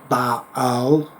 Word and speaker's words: Baal: It's actually pronounced Baal. It's just difficult to do a video saying Baal every 5 seconds.